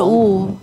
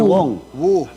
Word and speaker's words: Wu: Wu. Hindi ba ito Willie Ong? Mr. Wu po. Wu. Mr. Wong.